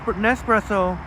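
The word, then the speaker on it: Nespresso: when I was saying n nepresso rhymes with espresso I don't know how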